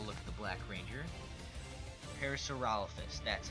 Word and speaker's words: Parasaurolophus: Parasaurolophus, that's how you say it.